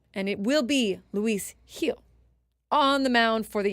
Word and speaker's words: Gil: somewhere um it's pronounced Lis heel I said that I said Luis Gil it's a Jill Gil it's not it's Luis heel J heel heel heel heel yes like Benji heel we always used to